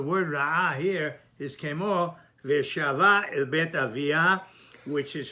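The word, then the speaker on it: וְשָׁבָה: But he's trying to say that in both cases, the pronunciation is milera, which normally would have been mile'el. Veshava el bet aviyah, and she returned to her father's house.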